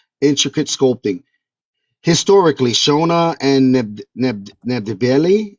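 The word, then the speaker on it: Ndebele: Historically, Shona and Nebeli, am I saying it right? Yeah, Nebeli yeah.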